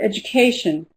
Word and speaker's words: education: So, let's take the word education. Education. Four syllables. Which one is stressed? Education. Can you hear? Education. Education. Education. Yes, it's the third syllable.